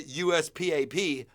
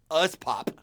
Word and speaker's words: USPAP: Concerns according to the USPAP, USPOP, as we call it.